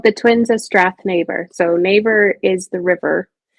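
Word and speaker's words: Strathnaver: I'm gonna have you say the title because I'll pronounce it wrong. So it's called The Twins of Strath Neighbor.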